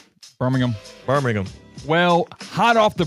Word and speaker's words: Birmingham: Well, I kind of try to say it like the British do with their cities. Okay. They kind of ham. They don't do the ham in Birmingham.